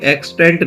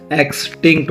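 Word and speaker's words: extinct: ये स्पेलिंग गलत लिखी, एक्सटेंट नहीं होता, एक्सटिंक्ट होता है, एक्सटिंक्ट, TICN, एक्सटिंक्ट वोल्केनोस होता है।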